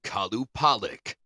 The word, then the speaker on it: Qalupalik: Well, anyways, let's talk about some weird Inuit mermaid on this week's spooky stuff, the Kalup Pollic. Yes, it's spelled Q A L U P A L I K.